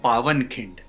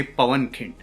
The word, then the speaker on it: पावनखिंड: पहला तो ये कि ये मूवी का नाम है पावनखिंड, ना के पवनखिंड. कुछ लोगों को मैंने ये पवनखिंड कहते हुए सुना है, शायद इसलिए क्योंकि वो PAWAN पवन की तरह सेम प्रोनाउंसिएशन है या सेम लेटर्स हैं, पर यह है पावनखिंड. और ये नाम इसलिए पड़ा